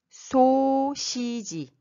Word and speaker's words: 소시지: 소시지. Ça se prononce chi et ce n'est pas si.